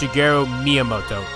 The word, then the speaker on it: Shigeru Miyamoto: It's pronounced Shigeru Miyamoto. You gotta learn to pronounce that correctly.